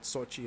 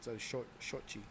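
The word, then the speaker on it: Xochi: So Mexicanos, You know, and that's so it's not Sochi, it's a shochi, right?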